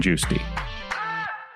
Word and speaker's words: Giusti: Am I pronouncing it right? Yeah, Giusti.